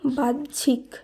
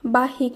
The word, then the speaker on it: বাহ্যিক: বয়াকার হয় জফলা রস্যি ক, এর শুদ্ধ উচ্চারণ হবে বাহ্যিক, বাহিক নয় বাহ্যিক, এর শুদ্ধ উচ্চারণ।